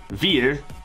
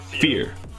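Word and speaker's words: Vier: cyber track it beer veer right beer fear basically like the word fear oh you say it like with an f okay so fear cyber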